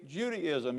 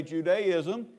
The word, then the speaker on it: Judaism: There is no woman named Judy in our background, so don't say Judaism. You can say Judaism.